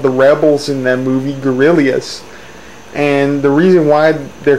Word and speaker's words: Guerrillas: And it's called the 89 Guerrillas. They're not pronounced gorillas, they're pronounced guerrillas.